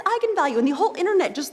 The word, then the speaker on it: eigenvalue: the directors that yes that is how you pronounce it so I went out there and said that's right egon value and then apparently the internet went nuts when it came out because apparently it's pronounced eigenvalue that's how you're supposed to say I'm the